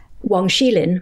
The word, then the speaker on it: Wang Xilin: Wang Xilin.